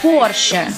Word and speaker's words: Porsche: вы произносите в общем это не порт не париж как мы привыкли это porsche но джим керри говорит